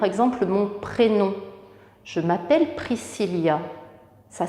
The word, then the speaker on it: Priscilla: vous épauler par exemple mon prénom je m'appelle priscilla ça s'écrit comme ans priscilla ça s'écrit et r